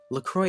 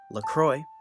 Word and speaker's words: La Croix: unlike the actually french sparkling water brand berries lacroix itself isn't french it's named after saint croix